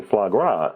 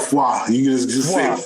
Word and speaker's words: foie gras: greasy plates to plating foie gras and I know I mispronounced that I mispronounced that part like we just call it flaw yeah there you go